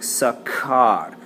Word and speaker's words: sacar: It makes a hard C sound. It sounds like sacar.